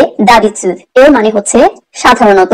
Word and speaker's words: d'habitude: d'habitude, d'habitude এখানে habitude এর সামনে ডি অ্যাপস্ট্রফি দেওয়া, সো এটার প্রোনাউন্সিয়েশন হবে d'habitude।